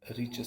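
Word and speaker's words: Richter: on a scale called rich scale okay it's not richer scale okay it is a richer scale the t is silent over there very destructive earthquakes have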